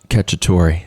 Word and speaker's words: Cacciatore: Cacciatore.